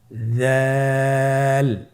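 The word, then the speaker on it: ذال: চেষ্টা করুন আবার বলুন জাল জাল হরফটিও বারিক হরফ উচ্চারণ করার সময় অবশ্যই তিন আলিফ টেনে পড়তে হবে। জালের মাখরাজ হলো জিহ্বার আগা সামনের উপরের দুই দাঁতের আগার সঙ্গে লাগিয়ে উচ্চারিত হয়।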